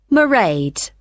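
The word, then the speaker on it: Mairead: be working then so you'll see my assistant merade sorry how do you spell that it's m a i r e a d marade okay got that it's not a name i'm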